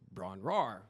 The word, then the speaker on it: Bron-Yr-Aur: known as Ron RAR which I had mispronounced this before we decided to put a name on this I had mispronounced this easily for 30 years until I researched it and it's the why is silent so in my head